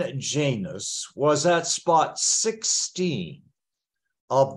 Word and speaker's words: Janus: January is named after the God Janus or another accepted pronunciation Janos the author of today's